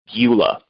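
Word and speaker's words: Gyula: the light of marxism leninism the author's name is spelt g-y-u-l-a eula the last name is kalai spelled k a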